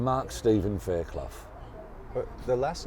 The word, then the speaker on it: Fairclough: Fairclough. Fairclough. Fairclough. Faircloughh. Fairclough. Yeah. Fairclough. Some people used to pronounce it Fairclough. Some, when I was at school and stuff like that, but it's Fairclough.